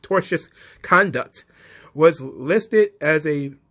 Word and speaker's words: tortious: toxic misogyny, and the company's duty to refrain from assisting and encouraging the alleged tortious, it's misspelled here, but it's pronounced tortious conduct, was listed as a complaint towards the companies and Sapolsky.